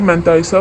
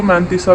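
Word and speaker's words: mantissa: करनी है और इसकी मैंथाइसा भी फाउंड करना है। अच्छा देखिए, इसको ना मैंथाइसा भी कह सकते हैं, इसको मैंथीसा भी कहते हैं। ब्रिटिश और अमेरिकन का फ़र्क है। So both pronunciation are correct.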